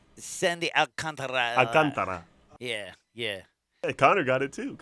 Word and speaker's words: Alcantara: Sandy Alcantara for the Miami Marlins, and he's pitching against Thor.